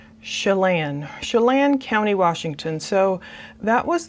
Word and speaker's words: Chelan: I put a little note, pronounce it soft, S like in shoe, lan rhymes with can, so I guess it's Chelan County, Washington.